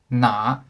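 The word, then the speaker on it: 哪: the left and the second difference is the pronunciation na meaning that is fourth tone na meaning with which is third tone okay and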